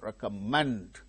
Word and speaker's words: recommend: the same syllable currencies recommend recommend manned Rico meant the third syllable gained stress success success two syllables